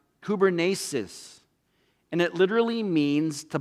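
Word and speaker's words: κυβέρνησις: is this little greek word called that that's pronounced kubernesis and it literally means to pilot a ship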